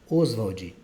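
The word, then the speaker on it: Ostwald: O que tem de chamar atenção no nome do Oswald é que tem uma letra T no meio do nome dele, tá? Mas ninguém vai pronunciar esse T aqui não.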